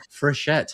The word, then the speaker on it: Frechette: Fette. That is not That is not your name. I don't know what happened. I've never got your name wrong. It's Fchett.